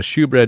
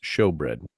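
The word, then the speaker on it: shewbread: Uh shoe bread is pronounced show bread, my friend.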